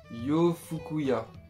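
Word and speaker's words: 洋服屋: On dit yo fouya, c'est une prononciation un petit peu compliquée peut-être pour vous.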